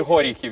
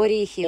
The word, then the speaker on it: Оріхів: Чи Горіхів, як правильно? Оріхів. Оріхів.